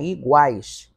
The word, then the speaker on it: iguais: Vocês lembram da palavrinha iguais? Ainda agora eu mostrei. Por que na palavra iguais esse GU não é dígrafo? Porque o U está pronunciado.